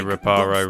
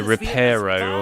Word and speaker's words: Reparo: moment yeah they uh they do say reparo wrong in this so in this game they say repero or something like that is repero I think they say but it's reparo that's how you say it ripparu could keep talking